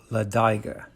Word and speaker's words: Ladiga: from my native-born alabama friends that the locals pronounce the name of this trail ladaiga as we enter jacksonville on the chiefladiga trail